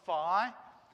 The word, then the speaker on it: phi: the alphabet so we this one's phi and it's a ph sound that f sound like phone yeah that ph kind